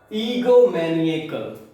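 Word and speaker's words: egomaniacal: First word है इसमें ईगोमैनिएकल। ईगोमैनिएकल, इसको 4 सिलेबल में तोड़ करके करेक्ट प्रोनाउंसिएशन कैसे करेंगे?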